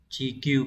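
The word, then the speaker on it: 地球: Chúng ta có chữ địa sẽ đọc là chi trong từ chi đi, địa lý đấy. Chữ cầu đọc là kyu, như vậy chúng ta phải chọn đúng là số 2.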